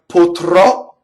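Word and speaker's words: potrò: So then we have potrɔ, right? So exactly the opposite of the way you've probably been doing it, right? We tend to open the wrong one, right? Potrɔ. So it's closed O, open O.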